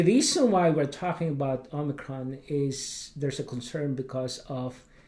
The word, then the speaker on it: omicron: of people pronounce it a micron the actual greek pronunciation is omicron it's a also known